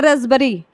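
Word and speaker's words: raspberry: का तरीका अटेम्प्ट है यह रास्पबेरी है तो इसको हम लिखते हैं रसबेरी रसबेरी यह है उस तरह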